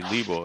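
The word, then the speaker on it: Libau: yeah okay go northeast of that you see Libo l-i-b-a-u H yeah but LeBlanc the Bible it's two-syllables oh you're not even zoomed in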